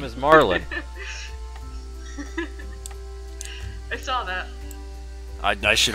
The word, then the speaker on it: Marlin: It's not Merlin, it's Marlin.